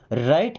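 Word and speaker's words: write: राइट इन हिंदी। देखिए यहां पे अब डब्ल्यू साइलेंट होगा।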